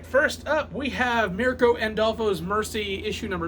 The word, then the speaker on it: Mirka Andolfo: All right, first up, we have Mirka Andolfo's Mercy, issue number 2. Who? This is Mirka Andolfo. Mirko and... I say the name wrong.